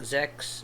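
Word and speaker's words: sechs: And like when you say um number six it's like zex. Yes, it sounds like sex.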